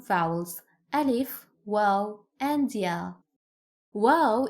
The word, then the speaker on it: Waw: Waw is pronounced like the double O in the English word boot. boot, oo. Round your mouth and extend your lips as much as you can. Ooh, ooh. It's not o, it is ooh, ooh.